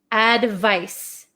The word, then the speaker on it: advice: one this is advice advice advice so this makes like an S Sound Advice advice so you guys